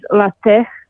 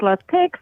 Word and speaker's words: LaTeX: chops on pronunciation yeah that's why you pronounce it lat and not latex because that that may sound like something hor complet different okay all right so